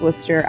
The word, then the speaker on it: Worcestershire: girl on TikTok that it apparently is pronounced Worcester. I'm not sure why they have all those extra letters in there, but that's what it is.